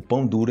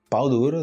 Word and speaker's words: pão duro: duro pão duro aí você imagina você errar a pronúncia dessa expressão né tipo pão duro em português se você falar pau duro tipo também tem o